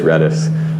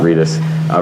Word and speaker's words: Redis: uh i i've been going back and forth pronouncing it redis or reedus so i did some research it is redis so not reduced redis just like linus tord